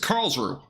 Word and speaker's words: Karlsruhe: Okay, so this is Karlsruhe. Thank you for the pronunciation, by the way, in chat.